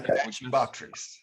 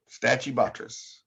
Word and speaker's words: Stachybotrys: I don't know how to pronounce that. The S word. The S word? Yeah. Stachybotrys. Stachybotrys.